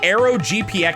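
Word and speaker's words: AeroGPX: That is the Arrow GPX soundtrack. arrow spelled like the c the British candy bar.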